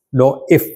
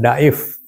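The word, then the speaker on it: dhaif: Ini bacanya diif ya, bukan daif ya.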